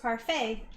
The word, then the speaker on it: parfait: inspire us and mayor you were right it's pronounced parfait but i'm sweeter oh